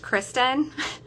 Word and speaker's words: Kristen: saying that right so my name is pronounced kristen but it looks like christian and yeah so i always